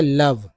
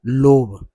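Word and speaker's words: love: तो friendship, yellow से, yellow से, एल से ल, ओ का उच्चारण अ के रूप में हो रहा है, भी ई को व बोलते हैं, तो हो गया लव, नॉट लोभ।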